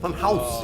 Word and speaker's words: Funhaus: No, house is spelled with H-A-U-S. House. House. Funhouse. Like Hauser.